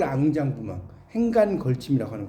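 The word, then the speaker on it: enjambement: 앙장부망. 이 앙장부망을 이제 영어로 쓰면 이렇게 써요. 절대 쓰면 근데 이걸 읽을 때 앙장부망이라고 읽어요. 알겠죠? 불어에서는 단어 끝에 T가 나오잖아요. 그럼 거의 T를 발음을 안 해요.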